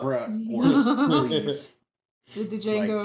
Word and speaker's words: Django: With the Django. Like, damn. Yeah, that Django. The D is silent.